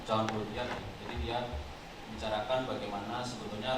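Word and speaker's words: Jean Baudrillard: Ini saya mengambil dari teorinya Baudrillard, kalau tulisannya kalau kita bacanya John Baudrillard.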